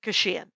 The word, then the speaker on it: Kashian: is for 20 years it's why i called the album staycation in the hopes that people would pronounce my name right oh beautiful and i